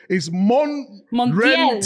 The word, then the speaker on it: Montiel: But the movement from the striker in there, I don't even know how to pronounce his name. It's Montiel. Is that all right, guys? Montiel.